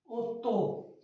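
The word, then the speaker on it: otto: ओत्तो, O double T ओ, ओत्तो, no way, simply no way, और दी Aichi, दी Aichi, दी Aichi 10 को कहेंगे।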